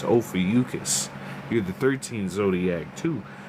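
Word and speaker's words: Ophiuchus: If y'all don't know how to say it, it's ofus.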